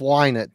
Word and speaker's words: Lynott: I saw something online, people telling it was Lynott. So I will go with Lynott then. I've heard it both ways, but it sounds like Ash has a good source for the Lynott pronunciation.